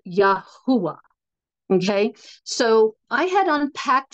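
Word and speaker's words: Yahweh: for the god of Israel whose name is pronounced yahwa okay so I had unpacked all this I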